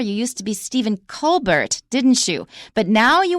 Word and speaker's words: Colbert: Originally Stephen Colbert, Colbert. When he was pursuing his career in comedy, he changed the pronunciation, not the spelling, but the pronunciation to Stephen Colbert.